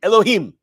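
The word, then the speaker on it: יהוה: But how is Yud Ke Vav Ke pronounced there? It's not pronounced. We don't say Adonai Adonai. It's Adonai Elohim.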